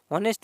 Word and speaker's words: honest: हॉनेस्ट में बताइए, तो जी हाँ इसमें क्या है, हॉनेस्ट में आपका क्या होता है, एच साइलेंट होता है।